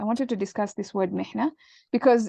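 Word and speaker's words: محنة: Mihna with a ha. Okay, so this is why pronunciation is also important. You have to be able to distinguish between ha and ha.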